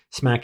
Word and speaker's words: SMAC: And it's SM lowercase a C with a hard K pronunciation.